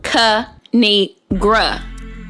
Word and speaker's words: Kinigra: me tell y'all a thing of three it's pronounced kanigra now subscribe oh I crack myself up thanks